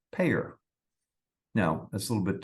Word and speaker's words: PAEER: The 5 letters are PAEER, and not surprisingly, that is pronounced PAEER.